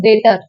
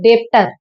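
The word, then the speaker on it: debtor: Next point is डेटर। इट इज डेटर नॉट डेप्टर। बी is silent in डेटर, यहाँ पे B silent है डेटर।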